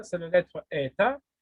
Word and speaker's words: eta: Qui ressemble à la lettre N, c'est la lettre eta qui se prononce comme deux E.